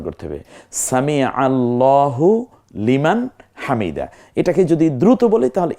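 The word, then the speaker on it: سمع الله لمن حمده: বলবো না, সামি আল্লাহ, কারণ আল্লাহ শব্দের পূর্বের অক্ষরটা জবরযুক্ত হয়েছে। এই জন্য আবার আমরা সামি আল্লাহু লিমান হামিদা বলি না, সামি আল্লাহু লিমান হামিদা। খুব চমৎকার উচ্চারণ করতে হবে, সামি আল্লাহু লিমান হামিদা।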